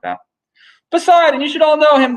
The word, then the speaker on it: Poseidon: Poseidon. That's how you say his name in Greek down here.